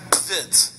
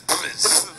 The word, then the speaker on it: Bvids: Many people mispronounce his name. It's actually pronounced Bvids. It's Bvids.